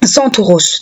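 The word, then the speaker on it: Κένταυρος: En grec, le terme sentor se prononce Santoros.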